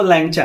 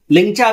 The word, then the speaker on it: लैंगचा: चीजें भी कहते होंगे, अलग अलग तरह से प्रोनाउंस भी करते होंगे, लेकिन इसी के इर्द गिर्द घूमता रहता है। लिंचा भी जल्दी जल्दी में बोल देते होंगे, लैंगचा भी बोल देते होंगे, वो सारी चीजें